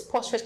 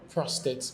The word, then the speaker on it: prostate: This prostrate cancer you talked about, let me be right about the pronunciation. Prostrate prostrate prostate cancer.